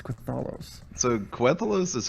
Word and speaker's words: Quthalos: Yeah, how okay, the F so- do you pronounce Quthalos? So Quthalos is how I say it, but there or Congrats.